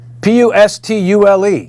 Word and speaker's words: pustule: doubled in viewers so now we have 7 P us tu le you pronounce that P UST pustule yeah see you